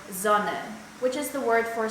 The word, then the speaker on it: Sonne: And the soft S is pronounced like in the word Sonne, which is the word for sun.